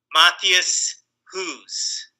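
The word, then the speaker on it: Matthias Hues: and and it's like in German he says it's uh Matthias who's okay so it's like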